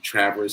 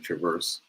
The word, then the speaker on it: Traverse: I am in Traverse City, Michigan. I was corrected on the pronunciation. I've been saying Traverse, but it's Traverse City, Michigan.